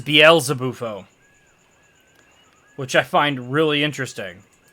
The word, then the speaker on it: Beelzebufo: if i'm not mistaken beelze might be a reference to beelzebub which therefore means that it's proper pronunciation is bielsa bufo which i find really